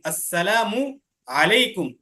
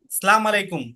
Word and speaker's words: আসসালামু আলাইকুম: সালাম দেওয়ার সময় আসসালামু, মিমের পেশটাকে স্পষ্টভাবে উচ্চারণ করতে হবে। এরপরে আলাইকুম, আসসালামু আলাইকুম, আইনের, হ্যাঁ, আইন হরফটাকে সঠিক স্থান থেকে উচ্চারণ করতে হবে। অর্থাৎ এভাবে আসসালামু আলাইকুম, সালাম আলাইকুম এভাবে না। অনেকে দেখবা এভাবে সালাম দেয় যে সালাম আলাইকুম, ঠিক আছে, আসসালামু আলাইকুম এভাবে না, সুন্দর করে দিতে হবে সহি শুদ্ধভাবে।